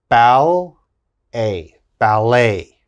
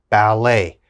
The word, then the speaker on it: ballet: d e t now in french when we're speaking french e t has a a sound a so let's look at the first word now we would pronounce this bal a ballet ballet and of course ballet